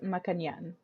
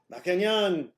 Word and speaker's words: Maccagnan: beautiful it I name thank you it is pronounced makan makan yes oh you did it you did it